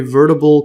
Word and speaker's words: vertebral: are animals that neither possess nor develop a vertebral column see the pronunciation vertebral yeah vertebral column uh commonly known